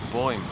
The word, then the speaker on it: Boym: Yeah, so just before coming out, I just discovered Miss Boym, or Boym. Is it Boym? Like boy plus M, Boym.